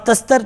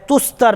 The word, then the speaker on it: تستر: نام بولا جاتا تھا، بعض تستر بھی بولتے ہیں لیکن صحیح جو تلفظ ہے تستر لفظ ہے۔ اس علاقے میں آئے،